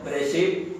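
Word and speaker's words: בראשית: En el hebreo se lee Bereshit porque la espa es muda.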